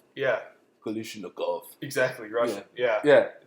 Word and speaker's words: Kalashnikov: So why don't you go ahead and pronounce whatever that is? That is a Kalashnikov USA KR9. Kalashnikov. Yeah. Kalashnikov.